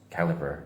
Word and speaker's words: Calibre: Calibre is actually pronounced caliber, even though it's written BRECALIBRE. Like you would assume it's pronounced as calibre, but it's actually caliber for some reason.